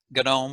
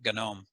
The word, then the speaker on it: GNOME: most popular ones are gadome with a hard g that was a made up acronym gnu network object model environment or something like that but for the last 20 years they just call it gnome there's a software development